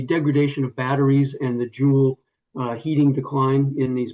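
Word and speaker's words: joule: I'm going to use a term jewel and just for purposes of transcribing this that is spelled J O U L E in this sense.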